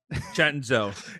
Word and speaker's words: Chenzo: Chenzo. It's Chenzo. CENZO, spelled Senzo, pronounced Chenzo. Or spelled Chenzo.